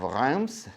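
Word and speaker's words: Reims: on the south east part of rams that's how you pronounce it properly if you want to be a fancy French guy and we're talking about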